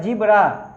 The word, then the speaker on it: zebra: जिब्रा लिखते हैं, इसको प्रोनाउंसिएशन इसका होता है जिब्रा, इसका मतलब होता है जेबरा, इस तरह से बड़ा जेबरा, जिब्रा होता है यहाँ पे।